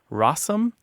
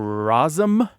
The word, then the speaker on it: rosin: The reason I said we'll talk about rosin in a second is some folks say rossum or rosum or rosing. So, and you'll find all of these pronunciations throughout the American South and northern Midlands and that sort of thing.